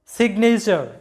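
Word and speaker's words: signature: মধ্যে আছে এন, মানে যেহেতু জি এবং এন আলাদা আলাদা সিলেবলের মধ্যে আছে, তাই জি এর উচ্চারণটা হবে সিগনেচার, যেটার বাংলা অর্থটা হচ্ছে স্বাক্ষর, সিগনেচার, এরকম হবে আমাদের উচ্চারণটা।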